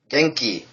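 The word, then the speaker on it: 元気: which is slightly more tricky um is it's pronounced geni geni is actually ironically a name of a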